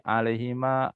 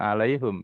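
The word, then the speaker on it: عليهم: Alaihi, kalau menurut teori untuk mudah pengucapan itu alaihi, alaihima, alaihim gitu, alaihim. Alaihim. Kenapa? Ini vokalnya him bukan alaihum ya.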